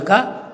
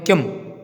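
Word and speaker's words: किम्: अब यहाँ पे की बोल देते हैं बहुत सारे भैया बहन, जो है की बोलते हैं, की के ऊपर जो है बिंदी लगी हुई है, तो इसका उच्चारण होता है माँ से होता है। ठीक है, तो आधा माँ बोलेंगे किम, छात्र किम करोति, इस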